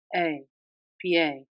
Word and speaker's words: pie: In Spanish, this word is pronounced exactly as it is spelled. P, pie. In English, however, it is not pie.